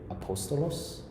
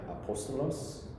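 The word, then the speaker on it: ἀπόστολος: that one will be apostolos so you see that the accent over the omicron that's the that's the third syllable from the end they call that the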